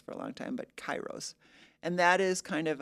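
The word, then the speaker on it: kairos: And I was told I was mispronouncing it cuz I was calling it keros for a long time but chyros.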